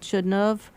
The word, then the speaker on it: Chudnov: We pronounce it Chudnov, but it's written Chudnow, sometimes with a W at the end, but it's Chudnov, the pronunciation of the W as a V.